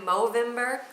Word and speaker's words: Movember: November, but with an M, Movember. I guess that's how you say it.